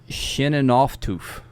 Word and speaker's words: Scheunenaufzucht: Now, the different Amish communities have different dialects. That's right. Yep. So it could be pronounced different, or a word might be changed or flipped or whatever, but it's Shinanoftoof, something along those lines.